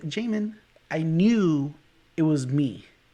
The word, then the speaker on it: Jamin: myself everywhere you go my name is jamin but because of how it's spelled it could be pronounced jimin jammin you know there's so